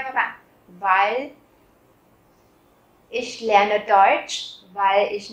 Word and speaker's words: weil: Weil, bởi vì, các bạn chú ý là mình cũng không nói là weil. Rất nhiều bạn hay phát âm là weil, và các bạn quên mất chữ L cuối. Các bạn cong nhẹ cái lưỡi lên để tạo thành cái âm L thì nó mới đúng nha các bạn.